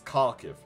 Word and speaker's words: Kharkiv: because nowadays it's Kharkiv, but back then it's Kov because it's the Russian pronunciation.